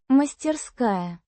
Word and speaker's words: мастерская: Мастерская. Means workshop. Pronounced мастерская. with the stress on the second syllable.